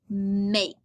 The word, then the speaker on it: make: Starts with our M, so we hear has an A, so we hear A, and a K-E, the E is silent, so we hear K.